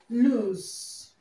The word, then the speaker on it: loose: is pronounced lse lose and this word is pronounced loose lose okay lose loose okay they pronounced different